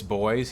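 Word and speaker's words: Du Bois: It's Boys. He specifically wanted it pronounced that way to distance himself from the European roots of his last name.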